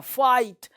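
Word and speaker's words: fight: अगला वर्ड देखो, फाइट, फाइट, ये GH जो है साइलेंट है, साइलेंट लेटर पढ़ना है, फाइट, फाइट, ये GH चुप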